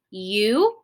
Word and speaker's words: Yukon: So my U gets a long line because it is long and it says its name. It says U, okay? So now I can look at K-O-N. Well, this is a closed syllable because there is a consonant after my vowel. That makes my O say its short sound, ah. So this says Yukon.